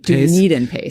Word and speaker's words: DunedinPACE: Did I say it right? I think it's called DunedinPACE. DunedinPACE. That's right.